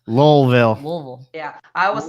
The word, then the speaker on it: Louisville: really great snake people in general and in Louisville sorry I didn't say we pronounced low level yeah I was saying all right I kept